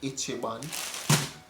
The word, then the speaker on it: Ichiban: or whatever it's called it's b flavor it's pronounced ichiban it's one of the better noodles i'm gonna